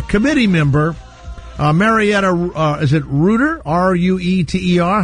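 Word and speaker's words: Rueter: Well, I say it writer, but you can say it however you'd like.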